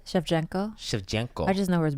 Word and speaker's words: Shevchenko: how do you say her last name Shevchenko Shevchenko I just know where the bullet good bullet